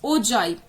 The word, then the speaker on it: ogive: I write the bifurcation, it is pronounced. The bifurcation of the pronunciation is ogive. It is not ogive. It is not ogive. It is not ogive. It is ogive. So please keep that in mind. If whosoever is pronouncing it as ogive, they are pronouncing it as wrong.